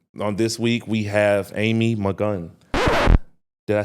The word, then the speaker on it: Malkan: Um, on this week we have Amy McGun.